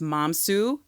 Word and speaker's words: Mamisoa: It's pronounced Mamisoa, Mom and Sue together.